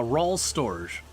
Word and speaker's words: Rualstorge: How do you pronounce the name? Uh, R storage.